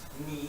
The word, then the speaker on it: knee: And of course the reason why we spell it with a K in English because it used to be pronounced as a K, and that's why it's still pronounced as a K in German. But we kept the spelling, but we no longer pronounce the K.